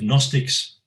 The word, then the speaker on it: Gnostics: a greek term of gnostics now the word begins with a g but we don't pronounce the g and it comes from